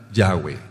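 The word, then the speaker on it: Yahweh: la segunda he Entonces el nombre se pronuncia yahwe yah ahora con letras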